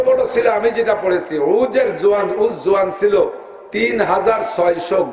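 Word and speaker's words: عوج: সবচেয়ে বড় জোয়ানের নাম হল উজ ইবনে নাম কি যারে আপনারা চেনেন সংক্ষেপ নামে উসপহলান শুনছেন না এর আরবিতে উচ্চারণ হল আইন জিম উজ বাপের নাম উনু মার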